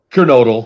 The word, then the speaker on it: Kernodle: of course uh don is it donkey noodle or duncan noodle how do you pronounce it curanodal you